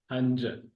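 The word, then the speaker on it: هنج: तो ये हंज है, right? Not hanj. हंज, right? जी हंज is गोद and हंजू is गोदे।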